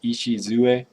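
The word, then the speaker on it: 礎: And the cornerstone kanji, which is that complicated Chinese character, that's pronounced Ishizue. So that's a lot of syllables for just that one character.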